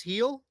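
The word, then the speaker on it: Gil: who wants to uh look he like Luis heel yep okay there you go two plus shots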